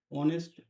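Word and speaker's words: honest: অনেস্ট অনেস্ট এখানে দেখো অনেস্ট ঠিক আছে এর আগে এ বসাবো না এন বসাবো এখানে দেখো এইচটা কিন্তু সাইলেন্ট আছে অনেস্ট ও এনই এসটি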